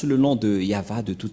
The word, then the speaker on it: Yahvah: Mais en lecture normale, on le lit Yahva. Et vous allez dire, mais je vois un W ici.